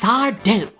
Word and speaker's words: Sardo: would angrily respond and say it with me now it's sardoo no mister accent on the do he would also always